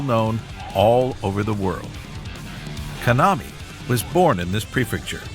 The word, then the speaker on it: Kanami: I've got I've been saying it wrong. Sorry. It's Konami, not Kamani.